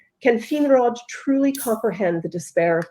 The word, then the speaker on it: Finrod: And also, I just looked up how you pronounce the I in Sindarin and Quenya, and it's not E. So Finrod is wrong.